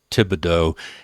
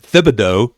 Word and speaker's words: Thibodeaux: And uh uh so on Substack, uh that's uh Tibido. And so everybody understands the H is silent. Uh Uh it's it's not Thib Thibido uh Tibido uh on